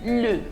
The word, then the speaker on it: les: e is pronounced as le l-a is pronounced as la l with an apostrophe in french you call it el apostroph and we have l-e-s pronounced as le so we have le